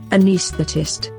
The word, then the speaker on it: anesthetist: And this is how it should be pronounced. Anesthetist.